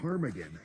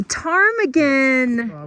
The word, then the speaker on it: ptarmigan: It's a tarmaggan. A tarmaggan with a silent P.